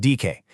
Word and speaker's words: Dike: On the left, you've got the Greek Dike, that's pronounced Dike, and on the right, the Roman Justitia, or Justitia.